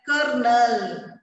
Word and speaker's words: colonel: So he is only a colonel. Don't spell it as a colonel. What is the pronunciation? Colonel. Though R is not there, you have to pronounce it as colonel.